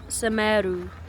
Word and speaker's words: Semeru: Teras Semeru. Semeru.